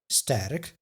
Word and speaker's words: sterk: Sterk becomes sterk, strong.